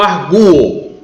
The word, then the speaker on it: arguo: Aqui é o verbo arguir, você pronuncia eu arguo. Veja que o verbo não está com acento gráfico. Por que não? Porque a palavra é arguo.